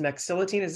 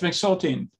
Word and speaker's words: mexiletine: But the first question comes from somebody who has been taking, it's pronounced mexiletine. Am I saying that correctly? Yes, mexiletine.